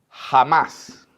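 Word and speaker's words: חמס: Miren la 25 55 que se pronuncia jamás Entonces se escribe así con una c interesante jamás es el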